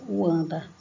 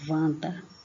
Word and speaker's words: Wanda: Por exemplo, você pronuncia aqui, não é Wanda, né? É Wanda, como se ele fosse um V.